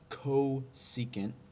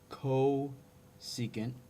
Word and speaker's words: cosecant: First is, this is pronounced cosecant. Okay, so this is pronounced cosecant.